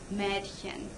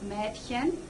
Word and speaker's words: Mädchen: Ah, you get Apfel, but ah-umlaut is pronounced eh, like in Mädchen. And actually there's two ways of pronouncing the ah-umlaut depending on dialects, so you could do either one and say, M{eh}dchen or M{ay}dchen.